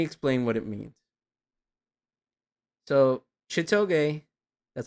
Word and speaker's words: Chitoge: So Chitoge, that's how you say it, Chitoge.